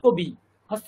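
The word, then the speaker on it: কবিঃ: হবে রামাহা লাতা আহা কবি হস্ত ইকার আছে তার বিসর্গ আছে কি হবে ইকার ভিকার হয়ে যাবে কাবিহি কাবিহি কাবিহি যেহেতু বিসর্গ ছিল তার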